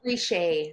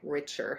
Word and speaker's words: Richer: yeah but it's ree so the last name is so it's a ree and then uh the company name though are phonetically richer Health okay you had to get